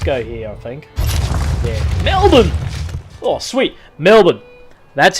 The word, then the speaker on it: Melbourne: It's Melbourne. Melbourne. Melbourne. Drop the R and just say Melbourne. Almost like silent R. Treat it like a silent R.